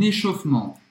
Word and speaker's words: échauffement: Avant de commencer ma séance de muscu, je fais un échauffement. então, échauffement é aquecimento, literalmente, tá? Literalmente significa isso. Échauffement. Presta atenção porque esse E no meio, ele praticamente não é pronunciado.